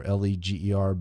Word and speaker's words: Leger: He spells his name Ledger, Leger, but he pronounces it Leger.